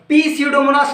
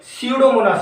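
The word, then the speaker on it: Pseudomonas: पी स्यूडोमोनास नहीं, केवल स्यूडोमोनास। यहाँ पे पी साइलेंट है, याद रखिएगा।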